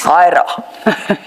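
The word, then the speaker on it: Huayra: Hyra. Sorry, ma'am? Hyra. Oh, okay. I dare not pronounce it back.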